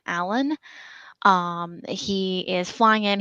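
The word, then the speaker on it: Alun: we're getting I think his name is pronounced alen it's a l u n Allen um he is flying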